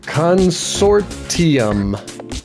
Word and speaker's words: consortium: Consortium.